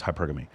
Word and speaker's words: hypergamy: If you pronounce it from the Greek, it's hypergamy.